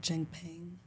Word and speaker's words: Cheng Peng: Cheng Peng.